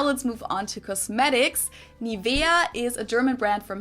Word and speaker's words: Nivea: In German, we say Nivea, Nivea. So the emphasis is on the E, Nivea.